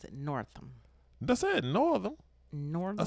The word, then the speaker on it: Northam: I think they pronounce it Northam.